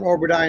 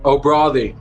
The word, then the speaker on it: O'Bradaigh: So we got Oberdie in the building. Am I saying it right? O'Brothy. I've told you before, but it's all good. It's all good. No one's going to get it right. O'Brothy. O'Brothy.